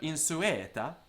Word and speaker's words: insueta: The word insueta is, of course, a trisyllable in heroic verse.